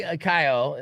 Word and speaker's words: Keough: Riley Keough.